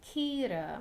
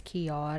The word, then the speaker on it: Kiara: And I've also seen this creator Kira. Actually, the creator's name is Kiara. And I just keep saying it wrong.